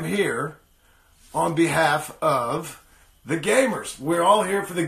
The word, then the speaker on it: the*gameHERs: I am so sorry I've been calling it the game hearse for the entire time I've been talking about it and I just realized an hour ago probably that it's actually pronounced gamers it's just spelled game hers so I'm very sorry